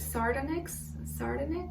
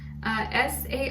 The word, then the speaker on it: sardonyx: And as your crystal of the week, you guys got, how do you say this, sardonyx? You guys got the sardonyx, S-A-R-D-O-N-Y-X, sardonyx, I think that's how you say it.